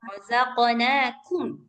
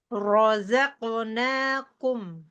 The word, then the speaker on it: رزقناكم: Kafnya jangan ikut tebal, Mbak Yanyan. Oh iya, Rozaqnakum. Jangan rozaqnakum. Jangan ikut tebal. razaqnakum.